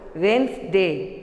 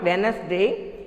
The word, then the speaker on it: Wednesday: Next, Wednesday, W-E-D-N-E-S-D-A-Y. It should be pronounced Wednesday. It's not Wednesday.